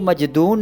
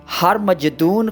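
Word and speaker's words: ہرمجدون: کا مطلب ہے کہ اس لفظ کو مجدون نہیں بلکہ ہر مجدون کہا جانا چاہیے، یعنی اس کا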